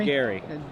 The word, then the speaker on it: Gery: Apparently it's pronounced Gery. Hard G, pronounced like Gary.